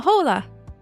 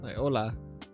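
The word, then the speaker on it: hola: know any Spanish but Jolla did you just say Jolla yeah I think the H is silent in that isn't it really Ola oh I immediately failed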